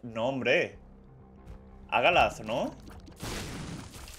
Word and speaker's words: Hagalath: Hagalath. No, hombre. Hagalath, ¿no? Que la H tampoco hay que pronunciarla tanto, ¿no? Hagalath, mejor dicho, ¿no?